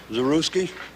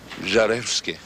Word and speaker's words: Żarewski: Zaruski? Is that the right way to say it, Zaruski? Żarewski. Żarewski.